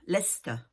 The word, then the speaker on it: Leicester: Non, non, Leicester. Vous avez Leicester, Bicester. Et tout ça, ça s'écrit avec Cester à la fin. Hein, mais on dit Ster, Bicester, Leicester, Gloucestershire.